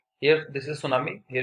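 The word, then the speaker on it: tsunami: सो for this first is सुनामी, टी is silent here.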